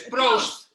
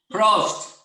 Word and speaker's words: proost: Proost. Proost.